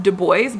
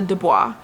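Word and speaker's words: Du Bois: We e now it's always pronounced dubo but I always default to dubois but we will remember it is do is how is it how it is pronounced.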